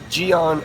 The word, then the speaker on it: Gyeon: Gyeon Quartz.